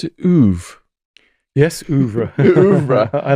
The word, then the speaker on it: oeuvre: Do you pronounce it oeuvre? Yes, oeuvre.